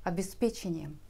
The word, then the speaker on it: обеспечение: Smart – это и значит с программным обеспечением. И, кстати, в русском языке с появлением программного обеспечения последнее слово стало возможным произносить с ударением на четвертый слог. Это уже нашло отражение в некоторых орфоэпических словарях.